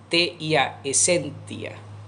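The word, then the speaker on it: essentia: De hecho, la esencia, la palabra esencia en latín se escribe E-S-S-E-N-T-I-A, esentia, esentia, esentia.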